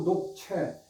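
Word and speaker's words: 鹿柴: 중리관이라는 시하고 녹채. 이게 시, 보통 뗄나무 시, 그렇게 시자로 발음을 하는데, 그, 목책이라는 뜻으로 울타리라는 뜻으로 쓰일 적에는 채라고 발음을 합니다.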